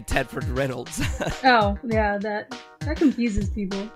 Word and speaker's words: Reynolds: And we have Marissa Reynolds.